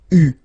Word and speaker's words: eu: But you will have to pronounce it U. So remember, main difference or big difference between what you write and what you pronounce. So you write it like that, EU, but then you pronounce it U.